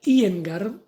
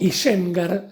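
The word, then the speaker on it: Iyengar: pronunciarlo una investigadora llamada china y en garde o isengard si quieres pronunciarlo de forma criolla porque después la y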